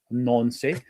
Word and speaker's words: Nancy: Now, I know that that's definitely pronounced Nancy.